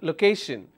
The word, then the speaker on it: location: be photography all right if I have a word which is look location so the syllable low kay shin which means it has only three syllables location and I will stress on the second syllable which is location so why am i